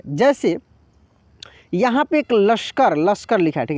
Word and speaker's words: लश्कर: यह लिखा तो इसको कैसे पढ़ेंगे लस्कर ऐसे नहीं पढ़ेंगे लश्कर ऐसे नहीं कैसे पढ़ना है लश्कर लश्कर लश्कर देखिए श का उच्चारण इतना तेजी से होगा की आपको पूर्ण रूप से सुनाई देगा सो नहीं सुनाई देगा लगेगा की 100 उसमें छुपा हुआ है इस तरीके से जैसे